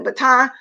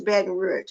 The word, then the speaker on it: Baton Rouge: In a recent interview on Black TV, the Baton Rouge rapper said, I think, and when I said baton, because we used to pronounce it like that sometimes, but it's Baton Rouge, okay?